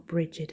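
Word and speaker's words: Brigid: the holiest of sources brig's brightness or bridgid however you want to pronounce it the witch is made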